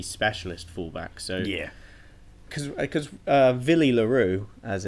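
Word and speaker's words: Willie le Roux: So yeah, because Villy LaRue, as it's pronounced, I think he was a 15 fullback kind of character, wasn't he?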